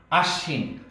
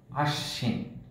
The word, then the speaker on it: আশ্বিন: আশ্বিন, শয়ের সাথে বফলা আছে, সুতরাং এখানে বফলার উচ্চারণ হবে না, কিন্তু যে বর্ণটির সাথে আছে সে বর্ণটি দুইবার উচ্চারণ হবে, আশ্বিন।